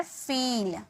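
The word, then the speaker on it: feel: यह कहा जाता है फिल. F double E एल फिल. नहीं, फिल। नहीं, फिल। फिल, ठीक है। थोड़ा खींचो। यह लंबी ई-कार। लंबी ई-कार थोड़ा लंबा इसका उच्चारण किया जाएगा।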